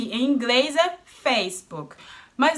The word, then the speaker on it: Facebook: Fac-ee-book-e in English is Facebook. But not only in English. Here in Germany it's pronounced the same way.